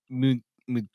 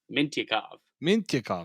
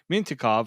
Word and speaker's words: Mintyukov: We got Pavel Mintyukov. Mintyukov. I don't even know why I didn't even say it like that. Mintyukov from Saginaw.